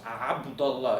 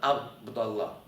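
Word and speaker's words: عبد الله: By the way, the letter ayn, how my name starts, Abdullah, it's not Abdullah.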